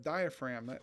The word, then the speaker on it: diaphragm: And the diaphragm, that's spelled kind of funny, so don't think it's a spelling error, but it's Diaphragm. I always forget that G at the end, but it's a dome shaped muscle that helps you breathe.